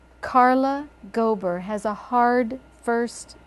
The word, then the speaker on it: Carla Gober: first you know what Carla Gober has a more rolling sound Carla Gober so you're not stopped in the middle um we could we